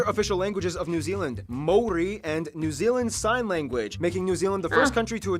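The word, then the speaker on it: Māori: Korea and Japan yes by the way it's pronounced Mori not mayori Maui they use the New Zealand dollar as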